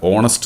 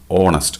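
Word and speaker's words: honest: വാക്കിന്റെ ഉച്ചാരണത്തെ അടിസ്ഥാനപ്പെടുത്തിയാണ് ഇവിടെ ഓണസ്റ്റ് എന്ന് പറയുന്ന വാക്ക് തുടങ്ങിയിരിക്കുന്നത് എച്ച് ആണെങ്കിലും അവിടുത്തെ ഉച്ചാരണം എങ്ങനെയാണ് ഓ എന്നാണ് ഓണസ്റ്റ് അതായത് എച്ച് അവിടെ സൈലൻറ് ആണ് അങ്ങനെ എച്ച് സൈലന്റ് ആയ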